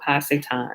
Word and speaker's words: Ha-Satan: That's how you say it in Hebrew, Ha-Satan, or Ha-Shaitan, or Shaitan.